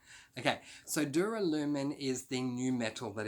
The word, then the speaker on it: duralumin: just want tough entrepreneurs so it is dewar aluminium sorry no it's not it's duralumin do duralumin okay so duralumin is the new metal